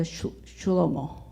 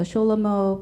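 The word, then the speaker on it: Schelomo: but most famous piece is the chulomo that is actually um Jewish pronunciation of the King Solomon so the sholomo peace is written for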